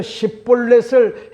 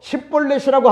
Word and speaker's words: 십볼렛: 마침 요단강 나루토에서 작은 시련물이라고 하는과 같은 말 시브렛을 에브라 사람들은 시브 블렛이라고 발음하는 것을 이용해서요. 에브라 사람을 곤란해 죽였습니다. 그래서 십볼렛을 해 봐라. 에브라 사람은요 뭔 모르고 십벌렛이라고 합니다.